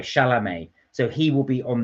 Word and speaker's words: Chalamet: say it I think I think it's Timothy is it charmelee I can't pronounce his name anyway he he will be playing it uh chalamet sorry chalamet so he will be